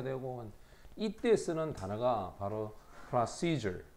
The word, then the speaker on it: procedure: 발음도 보면 procedure, seizure 여기다가 강세를 딱 줘. seizure, procedure 이렇게 발음합니다.